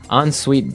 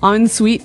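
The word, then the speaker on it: en suite: UI t e so even though it's e n we pronounce it like an o n yep on Suite so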